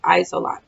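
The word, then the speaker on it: Isolde: Oh, it's Isolot. That's how you pronounce it. Isolot.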